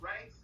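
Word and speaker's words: Reyets: And Rights is spelled R-E-Y-E-T-S. It's a combination of the word rights, as in your rights, and I, as being an eyewitness and filming the police and witnessing injustices.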